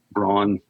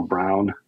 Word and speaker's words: Braun: during the 60s for Braun um or brown MH I've heard pronounced both ways so all kind of